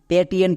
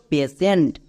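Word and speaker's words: patient: এর উচ্চারণ করছো প্যাটিয়েন্ট। প্যাটিয়েন্ট হবে না। কারণ দেখো শব্দের শেষে টি আই এনটি আছে। এর জন্য সেন্ড উচ্চারণ হবে।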